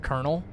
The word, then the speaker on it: colonel: There's no R in uh Colonel, but you pronounce it Colonel.